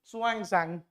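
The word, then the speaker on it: Xuanzang: parts of the country what this is pronounced suang Zang he visited Nanda University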